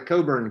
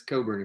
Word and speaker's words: Cockburn: the canaries that's good there's cockburn country it's coburn country if you if you if you're part of the coburn clan then it's coburn country okay thanks yeah oh i'll do that